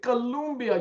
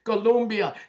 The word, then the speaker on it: Colombia: Look, by the summer of 2026, Italy, Spain, Ireland, Colombia, you got to say it correctly. Colombia, Chile, and Peru.